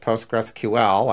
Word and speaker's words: PostgreSQL: You know, like the fact that we pronounce it PostgreSQL, I believe that's at least one of the canonical pronunciations, you know, that is